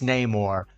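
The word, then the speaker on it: Namor: tier 4 for her name or I know they say no more in the movie but I don't like the way they pronounce it that's not correct it's name or and then we have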